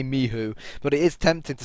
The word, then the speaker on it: Michu: Yeah, and apparently we're pronouncing Michu wrong. It's Mihu.